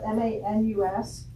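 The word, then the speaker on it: Maynes: So his last name is spelled M-A-N-U-S? M-A-Y-N-E-S. It's pronounced Manus.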